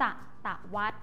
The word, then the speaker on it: ศตวรรษ: ค่ะ อ่าน ว่า ศตวรรษ แต่ ศตวรรษ สังเกต นะ คะ คำ ว่า วัด สะกด ด้วย สรศรี อ่าน ออก เสียง เหมือน มาตรา ตัว สะกด แม่ ก กด จะ อ่าน ออก เสียง ว่า วัด หมาย ถึง รอบ 100